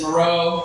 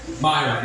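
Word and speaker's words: Miron: But as Stetson said, my last name is Moreau, but it's spelled really weird. It's M-I-R-O-N. Man, if you saw M-I-R-O-N written down on a piece of paper, how would you think that'd be pronounced? Myron, exactly. I've been getting called the wrong thing my entire life.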